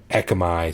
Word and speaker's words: Ekkamai: that with one Cas some of you spell it with two I go back and forth but uh it's pronounced the same echi so Ed what do